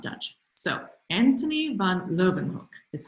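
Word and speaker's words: Leeuwenhoek: spell um i'm not dutch so anthony van lovenhook is how you say that and he was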